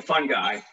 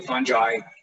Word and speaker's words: fungi: and and uh rob is very good proper pronunciation is fungi so most people introduce me as the fun guy so i that's why i put this slide in here to to affirm that it's really fungi and people can use different things but the